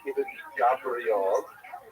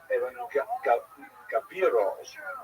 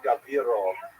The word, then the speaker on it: Ibn Gabirol: When someone pointed out to me, it's not Ibn Gabriel, it's Ibn Gabirol or Gabirol. I put the I in the wrong place.